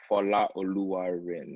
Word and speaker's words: Folarin Odunayo: I call you, but for the culture, would you like to just show exactly how your name's pronounced? Oh wow, exactly would be Folarin Odunayo.